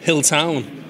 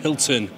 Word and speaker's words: Hilton: Hilltown. Hilton. Well, I don't know you freaky deaky Dutch language over there. Hilton, like Paris.